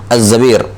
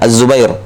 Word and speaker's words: Az-Zabir: Ya, Abdurrahman ibnu Az-Zabir. Nah, banyak yang membacanya Az-Zubair.